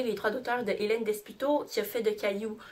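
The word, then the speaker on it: Desputeaux: Et puis c'est écrit par Hélène Desputo, et ça se prononce bien Desputo et non Desputo, qui est l'auteur de Caillou.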